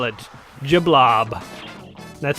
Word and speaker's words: de Blob: know how to spell that is how you spell it juh blah blah that's how it's pronounced it's a it's